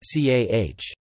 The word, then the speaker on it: ចា៎ះ: The word, yes, used by women is pronounced CAH.